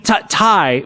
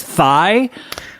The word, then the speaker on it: Thai: uh thai food uh i mean thai but isn't that funny how you can mispronounce it as thigh uh wait you want